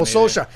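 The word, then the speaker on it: Solskjær: This is a name that I am going to have a terrible time pronouncing. Soskvar, 1999. Oh, Solskjaer.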